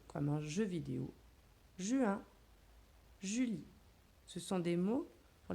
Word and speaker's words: Julie: Je monte en oblique, je descends pour le J, le U de Julie, le L de Julie, I et le E muet qui ne fait pas de bruit.